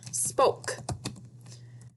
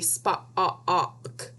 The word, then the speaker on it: spoke: So let's look at the word spoke. Why does this make the long O vowel sound and not a short O vowel sound? It would be spa-ok if it was short O.